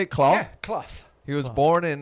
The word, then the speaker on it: Clough: Yeah, Clough.